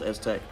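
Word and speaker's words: STEK: with you is s-tech it's spelled s-t-e-k but pronounced Aztec that is the brand paint protection film we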